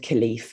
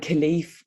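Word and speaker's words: Kilclief: a place that's called khalif it's actually spelled k i l c l i e f the c is silent just to make things easy um and khalif when go back to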